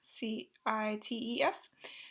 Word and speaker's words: CITES: That's how people pronounce the acronym there, CITES, which stands for the Convention on the International Trade in Endangered Species.